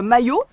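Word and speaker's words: Maó: Ça se dit ou ça s'écrit maillot, M-A-I-O. Et devinez quoi?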